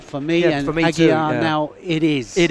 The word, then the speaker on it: Aguiar: to Marcus Batten, who corrects me on the pronunciation of Mayra Aguiar's name. Aguiar, rather than Aguiar.